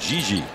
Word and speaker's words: Didi: I was told last night that Didi is pronounced Gigi in Brazil. Oh. But he prefers Didi.